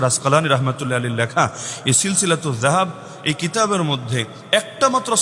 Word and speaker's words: সিলসিলাতুয যাহাব: অংশ হিসেবেই লেখা আছে সিলসিলাতু জাহাব আপনার মত জাহাব না সিলসিলাতু জাহাব না এটা তো উচ্চারণটা শুদ্ধ করে করা যায় সিলসিলাতু জাহাব ফিমা ইমাম আশাফি আন